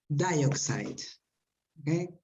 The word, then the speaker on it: dioxide: This word is pronounced dioxide. Dioxide. Dioxide. Wait, and the stress is here. Dioxide, okay?